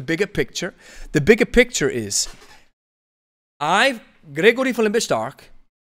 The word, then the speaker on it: Lebe Stark: The bigger picture is, Gregory von Lebe Stark. I said it in the English version, Lebe Stark. Lebe Stark. Gotta say it in the German pronunciation, Lebe Stark.